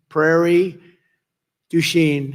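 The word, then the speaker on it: Prairie du Chien: get worse actually so we're here today in Prairie duen is that a good yeah good pronunciation you could have given me a little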